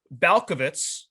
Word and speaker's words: Balkovec: promoted rachel balkovitz uh i watched videos to make sure i pronounced that last name right because it could be tricky to go 18 18 different ways with the vec at the end but rachel balkovitz she